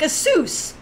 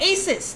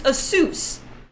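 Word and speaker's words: Asus: if you don't know the correct way to pronounce like a soos many Americans call it ASIS that's not the right pronunciation there's really a soos it's a suit because it's an Asian company it's pronounced a soos Oh see big Dre's like he probably called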